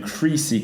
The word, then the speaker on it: crease: 단모음과 장모음 . 그러니까 이름 은 'i' 가 들어가니까 " 크리스 " 입니다 . 그리고 이건 "crease" 인데 , 장모음 입니다 . 길 게 발음 하면 " 크리즈 " 가 되니까 ...